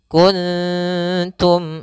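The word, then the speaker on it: كنتم: Jangan sampai ikhfa tebal. Kuntum. Kuntum. Tidak. Karena di sini huruf ta huruf yang tipis, maka ikhfanya pun tipis.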